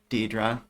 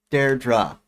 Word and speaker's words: Deirdre: Deidre. I'm pretty sure I'm pronouncing it wrong, right? Deirdre? Deirdre.